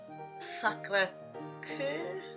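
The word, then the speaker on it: Sacré-Cœur: the Sacred Heart Cathedral, which in French is pronounced Sacre Coeur.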